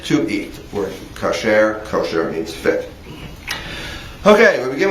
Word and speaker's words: kosher: American it's usually called kosher south usually pronounced with the accent on the first syllable but in Biblical Hebrew